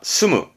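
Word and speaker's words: 住む: 스무, 예, 살다, 거주하다의 스무였습니다.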